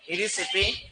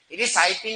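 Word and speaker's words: Erysiphe: बोलो इरिसिपी पॉलीगोनी। इिसाइपी नहीं कहते तो इरिसिपी कहते हैं इसे क्या कहते हैं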